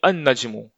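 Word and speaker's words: النجم: पर यहाँ देखिए, आप अल नहीं पढ़ेंगे, इसको हम पढ़ेंगे अन नजमू, अन नजमू।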